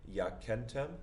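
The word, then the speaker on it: Jacentem: Let's take it syllable by syllable. Yakentem, slowly as ya, ken, tem, in, praesepio.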